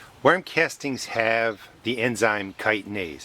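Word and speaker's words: chitin: Worm castings have the enzyme kitise. It's spelled chi t i n.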